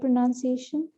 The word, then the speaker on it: pronunciation: Is it like correct pronunciation? Correct pronunciation, although, so pronounce, yes, but the word pronunciation has no noun in it.